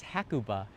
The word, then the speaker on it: Hakuba: what the heck is hakuba hakuba hakuba ha it's kind of not in you know Kuba hakuba if you don't pronounce it correctly sometimes Japanese won't know what you're talking about which is kind of